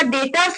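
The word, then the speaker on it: debtors: गया, रेवेन्यू हो गया, डेटर्स हो गया। इसको डेटर नहीं पढ़ने का है, इसको पढ़ने का है डेटर, इसका बी साइलेंट रहता है।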